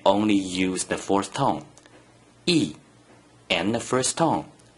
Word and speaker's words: 一: When the digit 1 is in the first green circle position, without any other digits, it is pronounced E, E, E is the second tone. Please pronounce it after me. E, E, E.